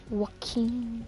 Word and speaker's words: Joaquin: Joaquin, Joaquin. Everybody says J, it's J. Hey, you know there's something called J sounds W.